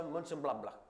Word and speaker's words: Mönchengladbach: Si pronuncia Mönchengladbach.